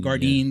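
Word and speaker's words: Gardein: garden guard garden but it's spelled at the end d-e-i-n garden garden they make a lot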